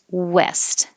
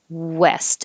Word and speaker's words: west: with the air and west and if you have trouble um remembering to make a good w and it might turn into a v make your lips very small west and then they can't